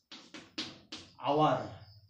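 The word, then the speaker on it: hour: বলি আওয়ার যদি বলি অনেস্ট ম্যান তাহলে এটি উচ্চারণ কি হয় এটা হয় আওয়ার ঠিক আছে কথার কিছু নেই উদাহরণ দেখে দেখে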